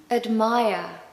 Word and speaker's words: admire: Admire. Admire. We haven't got a strong vowel sound in that first syllable because the second syllable is stressed.